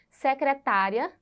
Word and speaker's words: secretária: exemplo no mesmo slide Olha só secretária e secretaria veja como tudo muda né então Observe é a mesma palavra na escrita mas a sílaba tônica muda e nós precisamos Observar